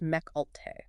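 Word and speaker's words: Mecc Alte: Companies like Mech Alt and it's pronounced Mech Alt.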